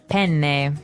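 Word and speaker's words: penne: it would be pen pen. So you you you double pronounce the consonant.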